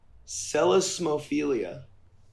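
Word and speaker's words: psellismophilia: a smile jawline eyes celasmophilia with a silent p okay arousal to stuttering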